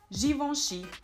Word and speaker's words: Givenchy: Another famous French fashion house is this one here, which is pronounced Givenchy and not Givenchy or Givenchy, but it's Givenchy.